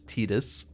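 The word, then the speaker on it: Tidus: it's not like all the Final Fantasy 10 people saying the name is Titus even though it's been officially stated that it's tetus anyway uh we have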